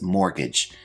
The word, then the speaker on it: mortgage: Our first term is mortgage. Now this word has a silent T, which I've highlighted in the word.